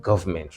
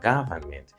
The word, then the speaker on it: government: Consult us for coaching in English up to the A-level, literature in English, and government, not government, remember, government, 3 syllables.